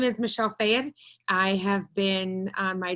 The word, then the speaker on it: Fayed: It's Fayed.